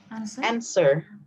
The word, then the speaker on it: answer: actually omit the w answer answer so answer answer our answer the w is silent answer answer the quote